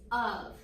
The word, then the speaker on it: of: So the word of has 2 letters and it says Does anybody know which part of the word is irregular? F. F. Do you know why F is irregular? It makes a V sound.